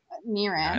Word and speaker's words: Niran: God, And this is Nieron. Niran. Not Ne- I knew I said it right.